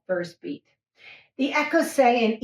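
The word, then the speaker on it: écossaise: And you say, oh, it's an Écossais.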